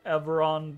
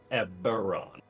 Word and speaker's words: Eberron: a different and she she pronounces it incorrectly by the way she says everon um being a difference on the B B yeah eberron oh thought that was a v never mind um uh